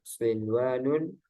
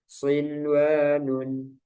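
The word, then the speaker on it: صنوان: Tidak berlaku hukum idgham bi gunnah pada 4 kata berikut ini, yaitu ad-dunya, sinwanun, qinwanun, bunyanun. Para ulama sepakat untuk membacanya secara jelas atau idhar karena masih dalam satu kata dan mereka menamakannya idhar mutlak. Ada yang menamakan juga idhar wajib.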